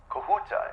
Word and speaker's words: Kahuta: Kahuta, is that the correct pronunciation? Am I saying that right? Yes.